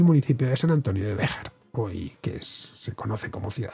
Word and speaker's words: Béxar: Bueno, en este San Antonio de Béjar tenemos otro caso de XJ, si lo hemos escrito leemos Béxar o Béxar, pero la pronunciación es con J.